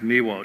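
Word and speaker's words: Miłosz: polish dissident named cheswav miwosch it's the name is spelled write this down young people c-z-e-s-l-a-w cheswave the last name is miwo spelled m-i-l-o-s-z the captive mind it came out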